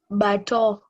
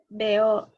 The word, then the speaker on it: bateau: Bateau. Auberge. No, there is a word you've not read. After bateau is? Beo. How do you say that word is beo and you have said EAU is O, Yvonne?